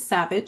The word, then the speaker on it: SAVVJ: So if you see that name, I pronounce it Savage.